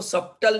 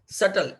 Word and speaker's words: subtle: In what सटल, इसको सब्टल नहीं pronounce करते, सटल, SUBTLE, very rare and delicate to express it about.